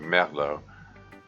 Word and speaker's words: Merlot: French yeah Merlot Merlot that's rather anglicized pronunciation of a French word oh well if it's French I would have pronounced it Melo but you know that's the French kind of rules are ours more uh the front in French they have a thing where they they don't pronounce the last uh the last letter of words uh it's kind of